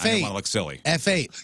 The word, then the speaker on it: F8: F8, pronounced Fate.